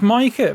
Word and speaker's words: Micah: It's Micah, isn't it? It's Micah because everyone calls him Big Meeks when it should be Big Mikes, and I always find that weird.